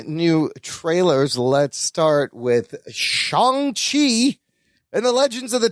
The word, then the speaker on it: Shang-Chi: It's pronounced Shang-Chi. I always thought it was Shang-Chi.